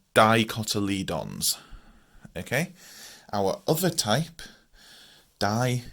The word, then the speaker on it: dicotyledons: Okay, so that's spelled Dicotyledons. It looks horrendous, and we pronounce that Dicotyledons.